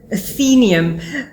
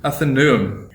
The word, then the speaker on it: Athenaeum: What do the Greeks say? It's Athenaeum. Athenaeum. Athenaeum. You know, Athenaeum. So it's that neum, don't even try and spell it. It's actually Athenaeum.